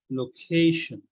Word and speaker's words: location: i n so uh when a noun ends in t i n stress this label before t i n before tins level is CA so we should be pronouncing as location similarly another example concentration